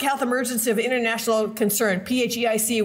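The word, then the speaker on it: PHEIC: Emergency of international concern phic which I think is appropriately pronounced fake so you know when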